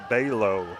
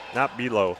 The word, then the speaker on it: Balo: I don't know if this person is from Jesup area or potentially South Hardin area, but we did get a pronunciation on Clara Balo, not Belo.